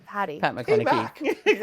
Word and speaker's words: McConnachie: The man, the myth, the legend, the very infamous Pat McConnachie. That makes me feel awkward. Did I pronounce it correctly? The surname? Patty. Pat McConnachie.